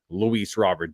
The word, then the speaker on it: Luis Robert: I say Luis Robert I need to say his name the right way as Luis Rober is he French I don't know where he's from but they they call him Luis roer on the TV so I'm gonna call